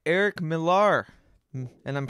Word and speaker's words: Millar: All right, Eric Millar, and I'm pronouncing that correctly.